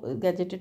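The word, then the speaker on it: gadget: लेकिन अब self attestation है तो गैजेटेड ऑफिसर की ज़रूरत नहीं पड़ती। लेकिन हाँ, ये गैजेट है, और दूसरा गैजेट की स्पेलिंग इज़ दैट इज़ गै, और ये याद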